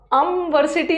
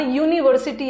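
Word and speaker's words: university: यहाँ जो यू का प्रोनाउंसिएशन है ना, अम्ब्रेला, अम्ब्रेला आ रहा, और आ ई ऊ में आता है तो एन तो सही है, बट यहाँ का प्रोनाउंसिएशन अमीनसी बोला भी नहीं जा रहा, अमवर्सिटी नहीं आ रहा, यहाँ यूनिवर्सिटी आ रहा है, यूनिवर्सिटी आ रहा है,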